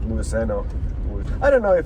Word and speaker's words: Luiseño: I think it's Luiseño. Not Luiseno.